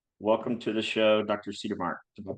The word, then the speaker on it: Cedermark: Cedermark. Did I pronounce that correctly?